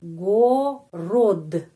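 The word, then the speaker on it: город: r ya re o dan huruf the jadi Go rod.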